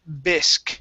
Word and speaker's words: bisque: go to the word bisque okay this is gonna be a short i sound tomato bisque tomato bisque